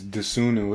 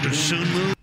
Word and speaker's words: Dosunmu: Y'all let this dude's name is Dosunmu. It's like three syllables. Io Dosunmu. Dosunmu.